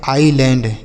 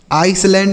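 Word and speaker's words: island: आइसलैंड नहीं पढ़ेंगे। यहां पर जो यस है ना बच्चों, यह साइलेंट है। इसको नहीं पढ़ा जाएगा।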